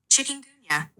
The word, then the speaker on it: chikungunya: Chikungunya. Okay. Chikungunya. Chikungunya. Even Apple's going like, "Come on, guys, you can pronounce it."